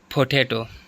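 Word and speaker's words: potato: भी सेकंड पर है पोटेटो पोटेटो पोटेटो इसमें भी सेकंड पर आता है बेडरूम बेडरूम बी पर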